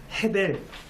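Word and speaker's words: הֶבֶל: 동생을 죽인 일이죠 가인이 아벨을 죽인 일입니다 그런데 우리가 아벨 아벨이라고 부르는이 이름의 본래 히브리어 발음이 바로 헤벨입니다 전도서에서 내내 이야기하는 헤벨 헛됨과 아벨이 철자가 똑같습니다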